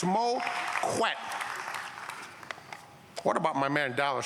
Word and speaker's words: Moquette: Learn how to pronounce his name, too. There's no Moquette, it's Moquette.